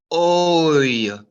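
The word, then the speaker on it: וֹי: Oy, oy, oy, oy. A very Jewish sound. Oy, Gewalt, oy vey is mir. Oy. It makes the oy sound, as in oy vey, or as in boy, or toy, and all those other oy words.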